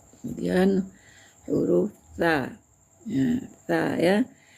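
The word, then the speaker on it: ث: Kemudian huruf tsa ya. Tsa ya. Tsa itu ee di ujung lidah saja ya. Tsa ya. Jangan berubah menjadi sin ya.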